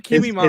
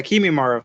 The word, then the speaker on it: Kimimaro: Wait, you mean Kimimaru, His right? Yeah, Kimimaro. Yeah, there I you go.